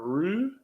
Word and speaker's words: Ruhr: The local, I don't know how you want to pronounce this, R-U-H-R, Ruhr? It's Ruhr.